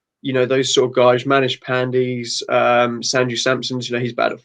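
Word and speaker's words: Pandey: So just quickly, the way that Chris's English is, the way he pronounces, I heard managed panties rather than managed pandy.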